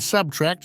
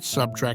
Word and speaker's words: subtract: pronunciation and vocabulary Clarissa they say nuclear not nucle and subtract not subtrack as he scolded her while